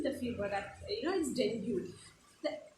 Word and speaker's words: dengue: We normally say dengue ho gaya with the series name, the fever that is dengue. The correct pronunciation is dengue, right?